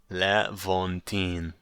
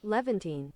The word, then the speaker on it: Levantine: Levantine pronunciation. Levantine. Levantine. Oh, I nailed it. Does that come through? Hold on. Levantine.